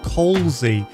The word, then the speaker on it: Coy: say my name wrong my name is pronounced Coy but people pronounce it wrong all the time and I know that